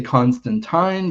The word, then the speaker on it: Constantine: And I guess I should say Constantine because that's how Neil Gaiman pronounces it.